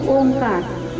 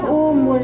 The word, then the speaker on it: ओम: word से बना है अ उ और म तभी पूरा ओम बनता है अ उ म ठीक